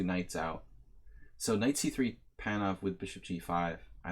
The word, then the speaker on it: Panov: Sometimes I pronounce it like lazily. It may sound like I'm saying Pano, and maybe I even like get tired and say that, but it's supposed to be Panov, and I said this once already.